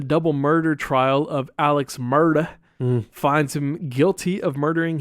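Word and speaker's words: Murdaugh: You got to say it like that. When I was watching the documentary, that's how they were, Murda. I was like, are they saying murder?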